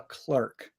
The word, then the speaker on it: clerk: a Clark oh no so I would say Clark is a clerk Clark is a clerk